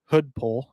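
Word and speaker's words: Hudepohl: Wyatt Hoodpole, I believe I'm pronouncing that correctly. His last name is Hudeppohl. So I think that's Hoodpole.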